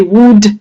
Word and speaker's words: would: when you read them you do not pronounce any L you say would could and should not would could should no would could should